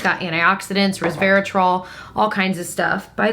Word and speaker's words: resveratrol: person that pointed that out because it is resveratrol and I am thankful to know how to